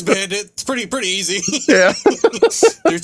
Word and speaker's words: Bandet: Bandit. Yep. Cool. Cool. See, I I am good at least figuring out how to pronounce everybody's names.